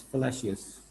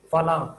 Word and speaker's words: fallacious: F-A-L-L, fallacious, F-A-L-L-A-C-I-O-U-S, fallacious. Now, actual pronunciation, fala. No, don't say fala. That's not fallacious.